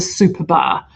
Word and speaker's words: Superba: I call it the Super Bar because it's actually pronounced spelled SUPERBA, but it's Superba.